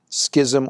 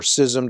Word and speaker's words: schism: Now that leads us to the great Schism or Schism, depending on how you prefer to pronounce it, of 1054.